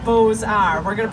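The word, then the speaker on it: Beaux-Arts: a u x a r TS but it's pronounced Bose R we're going to pronounce it together I'll say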